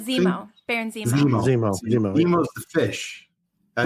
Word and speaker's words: Zemo: get the backstory of nemo nemo right baron am i pronouncing that right zemo berenson fish that's right